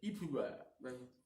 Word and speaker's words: Ipuwer: qui s'appelait, pas capable de le prononcer, mais Ipuwer. Ça s'écrit I-P-U-W-E-R, vous le prononcez comme vous voudrez.